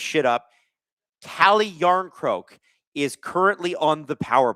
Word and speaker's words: Järnkrok: Oh, it's Oh, it's pronounced Järnkrok.